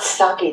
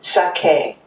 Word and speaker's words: sake: like it's pronounced and every syllable is pronounced the same emphasis so it's not saki that we drink it's sake it's not karate it's